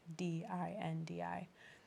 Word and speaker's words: Dindi: Later, after I was born, we found a Portuguese song, Jinji, but in Portuguese, the D is pronounced J, Dindi. But it sounds like Jinji, and Mm-hmm.